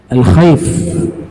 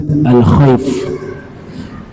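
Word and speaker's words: الخيف: Nah, jadi goa tersebut kalau kita ingin lihat masih bisa tempatnya dikenal dekat Masjid Alkhaf. Ya, dibacanya Masjid Al-Khaif.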